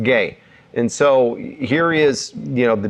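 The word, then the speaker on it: γῆ: By this way, we're talking about this Greek word that's pronounced gay.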